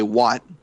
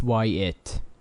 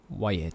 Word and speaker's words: Wyatt: I don't know if it's Wyatt, but I remember I just used to say Watt, and apparently it's not Watt. No, it's Wyatt. Wyatt.